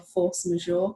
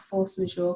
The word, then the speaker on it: force majeure: what we call a force majeure clause. And that's What is it? A what? Force majeure. Okay. It's spelled Majeure. It's French. And it means an event that occurs that's beyond your control.